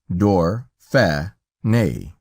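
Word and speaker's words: Dauphiné: for us calling it Dorf on a and pronounced door fair nay but greatest of all the honors shown us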